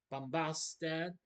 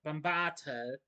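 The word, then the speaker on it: Bombaata: Conan and Malik are joined by Bombasta. No, not I'm sorry, I mispronounced it. Bombat, the captain of Terramis' guard.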